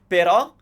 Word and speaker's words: però: Però, which means however, and pero, it's a pear tree. So the accent is used at the end of a word, and it's there to tell you that that's the syllable you stress and not what you would think you should. Now, as I said, E